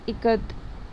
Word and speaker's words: Ikat: Someone spelled Ikat, and a few children giggled. Chanki teachers said it is pronounced I as it ka and in Kamala T as ta.